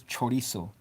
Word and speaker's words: chorizo: I'm gonna say the word like a gringo. But it's the word is chorizo. I didn't say it like a gringo. I'm gonna saying it the right way.